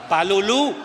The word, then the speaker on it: palulú: Palulú. con acento en la última U, pero pagábamos, le poníamos nombre y pagábamos.